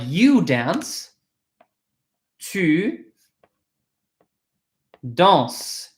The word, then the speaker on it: danses: If it's tu, like you dance, tu danses. It's pronounced the same way, written differently.